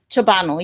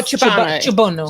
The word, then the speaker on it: Ciobanu: And did I pronounce that correctly? Ciobanu, yes. Oh, Ciobanu. Ciobanu. Yep. Oh, yeah, it needs an accent. Ciobanu. Yes, it's very European.